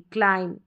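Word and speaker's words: climb: तो चलिए अभी देखें यहां पर बॉम बम नहीं बोलेंगे क्लाइम नहीं क्लाइम क्लाइम बी का तो साउंड ही नहीं आएगा क्योंकि रूल के अनुसार बी तो साइलेंट है कॉम हो गया क्रम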